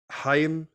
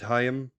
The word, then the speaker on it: Haim: Cross, Anthony Molinari, Alana Haim from the band Haim. Or Haim. Oh, Haim. No, but they did a TikTok where they're like, yes, this is how you pronounce it. I think it's Haim.